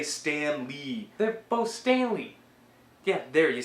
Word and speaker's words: Stanley: They're both Stanley. Yeah, there, you said it right. Stanley. Stanley. And Stan Lee, that's how you keep saying it.